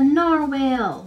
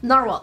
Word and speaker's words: narwhal: paint he it's a narwhale Narwhal Narwhal Narwhal I keep calling it a narwhale it's just logical it's a narwhal right Kitty editor correct me